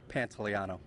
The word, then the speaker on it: Pantano: pronounce the last name and the actual pronunciation is Pantano I take it I'm